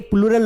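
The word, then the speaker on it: plural: एक निवेदन है कि इसे बार बार ना प्लूरल मत पढ़ना, ये प्लूरल नहीं है, इसका करेक्ट उच्चारण है प्लूरल। क्या है? प्लूरल है, प्लूरल, ध्यान रखना।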